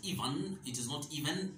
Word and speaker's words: even: For example, the word E-V-E-N. It is not even, but even. Even.